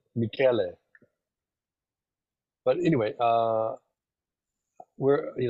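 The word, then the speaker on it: Michele: Michelle no it's is my name is pronounced not not Michelle Michelle Michelle I'm sorry no no it's mik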